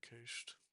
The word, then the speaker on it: cache: Most commonly used headers are cache control.